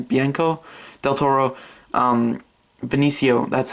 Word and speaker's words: Benicio: It just looks so cool, and I just love Bianco, I don't know how to pronounce his first name, Bianco Del Toro, Benicio, that's how you pronounce it.